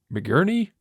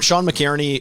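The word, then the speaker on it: McInerney: I'm assuming, is Sean is it McGhehey? Is that how you pronounce the name? Is that Poopies? It's Sean McKierney, or McKierney is Poopies.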